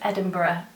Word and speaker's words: Edinburgh: i pronounced it wrong it's muscle burrow like edinburgh a viewer very kindly pointed out for me last episode um that i was saying it wrong and yes it totally is is edinburgh it's muscle bro like edinburgh um because the